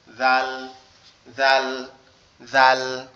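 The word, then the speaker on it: ذ: জাল অক্ষরটা আমাদের জিহ্বার আগা সামনের উপরে দুই দাঁতের আগার সঙ্গে লাগবে, লেগে উচ্চারিত হবে জাল, জাল, জাল।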